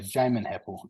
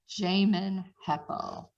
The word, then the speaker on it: Jamin Heppell: Yeah, so Jamin Heppell is how you pronounce it. It's all good. Jamin Heppell.